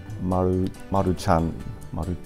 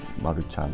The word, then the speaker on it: Maruchan: While many of us know how to make it, Maruchan. Not all of us know the proper way to pronounce it. Maruchan. CH is like church. Chan. Maruchan. Maruchan.